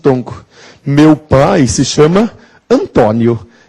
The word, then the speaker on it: Antônio: marcar a sílaba tônica porque Antônio é uma paroxitona terminada em ditongo ou então Antônio paroxitona terminada em DIT tonco Meu pai se chama Antônio e quando ele assina